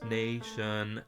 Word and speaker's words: nation: As long as we're just talking about putting lyrics to rhythms, nation, the accent is on nay, not shun, right?